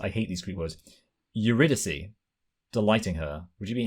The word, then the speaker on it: Eurydice: Eurydice, delighting her. Would you be happy with how I pronounced that?